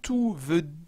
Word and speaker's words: tout: Donc, quand tout signifie complètement, totalement, entièrement, voilà, je suis tout